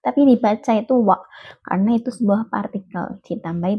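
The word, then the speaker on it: は: Jadi wa di sini itu kan huruf H, tapi kalau di kalimat dibacanya itu partikel dibacanya wa bukan huruf wa tapi hurufnya H tapi dibaca wa karena itu partikel.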